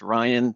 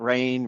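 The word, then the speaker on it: Ryne: in Echo it's pronounced Ryan the E is silent it's not it's not rain I've gotten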